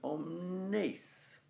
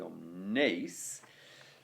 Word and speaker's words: omnes: Okay, so if it is a two-syllable word, you would have to stress the first syllable, right? But the meter here is suggesting that we should be going omnes, okay?